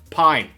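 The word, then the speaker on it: Pyn: this player's name is pronounced Pine but it is spelled like pain in Afrikaans p-y-n but I've been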